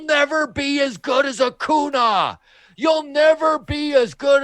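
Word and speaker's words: Acuña: And then Harper just looks at Real Muto and looks back at the guy and he goes, "It's Acuna.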